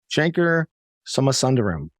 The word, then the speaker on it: Shankar Somasundaram: and I'm pleased to be joined today by Shanker summer sunderram did I pronounce that correctly that is correct all right